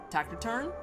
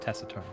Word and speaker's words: taciturn: It was Perseo who taught me the world Tactiturn. I think it's called pronounced taciturn. I was gonna say it's probably gonna be pronounced taciturn. I said it out loud and was like, that ain't feel right.